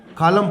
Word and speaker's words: column: और उसके बाद है नंबर ऑफ कॉलम COLUMNS, ये N साइलेंट है, कॉलम पढ़ेंगे, ठीक है।